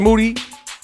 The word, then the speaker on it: Moody: beat crafted by G Moody last name rhymes with duty these three times broadcast